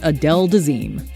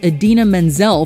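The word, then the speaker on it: Idina Menzel: 12 John Travolta introduces Adele desim it's not that John Travolta simply mispronounced a name it's that he shockingly butchered it seemingly creating a whole new one in the process yep The Pulp Fiction Stars Blender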